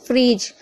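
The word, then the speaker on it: fridge: फ्रिज, यहाँ पर भी देखिए डी के बाद जी है तो डी साइलेंट है, या फिर कैसे भी देखिए आपको समझ में आना चाहिए।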